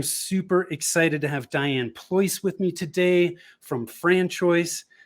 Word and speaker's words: Pleuss: So before we jumped on, you were telling me it's your last name is spelled Pleuss. Correct. But it's pronounced Pleuss, like choice, like Or Rolls-Royce.